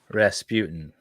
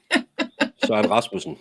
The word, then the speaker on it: Rasmussen: Soren Rasputin. No, Rasmussen. Søren Rasmussen. That's close.